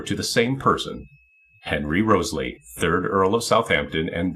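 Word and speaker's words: Wriothesley: rose in those poems, likely a play on Henry's last name, which would have been pronounced Roseley at that time.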